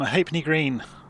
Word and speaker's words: Halfpenny Green: So, the LF was chopped out and everybody just said Hapney.